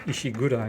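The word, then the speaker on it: Ishikura: called ishkur ich gura spelled with a k in english but it's actually pronounced ishigura in japanese and this is a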